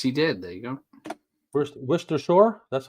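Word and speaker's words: Worcestershire: prier uh yes he did there you go wer Shore that's how you say it wers w wers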